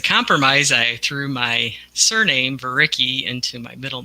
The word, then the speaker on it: Vereecke: And anyway, Varicki is spelled Vereecke, so it's long.